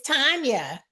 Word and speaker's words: Tanya: I want to find out is is it pronounced Tanya or tan it's Tanya Tanya okay cause sometimes Tanya is with an